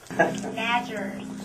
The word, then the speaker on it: nadgers: Nadgers. Nadgers. Rhymes with badgers.